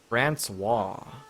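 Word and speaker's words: François: Francois. Really? I don't have a plugin to hear it, but the pronunciation is Francois.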